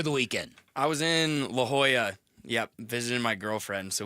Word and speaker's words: La Jolla: I was in La Jolla.